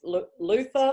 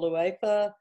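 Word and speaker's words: Leutha: This is Luther or Luetha, depending on how you pronounce it. I mean, there's no correct pronunciation for Blakean names, is there?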